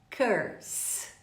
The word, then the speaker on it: curse: Então, iniciantes do inglês ou intermediários, pronunciem comigo essa palavra corretamente. Curse.